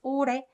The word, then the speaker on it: 올해: This sound, because of the sound, this h sound kind of gets muted. So it's pronounced 오래, 오래, 오래. You can't say 올해, 올해, but it's very uncomfortable and it's not necessary.